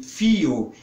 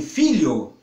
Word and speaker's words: filho: Mas acontece que essas pessoas que pronunciavam fio começaram a frequentar a escola e descobriam que não é fio e sim filho, fizeram uma associação por